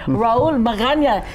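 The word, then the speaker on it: Raul Magaña: And also with Greg, we have a Senior Vice President of Consumer Products Division with First Hawaiian Bank, Raul Maganya. Did I say it correctly? You nailed it.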